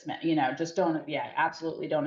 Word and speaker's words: Smythe: I mean, I've seen Smith with a silent E at the end. Yep. Like it looks like Smythe, but it's Smith.